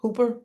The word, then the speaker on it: Hopper: you know about the hop, how do you pronounce it? Hooper? Hopper program, yeah, Hopper program.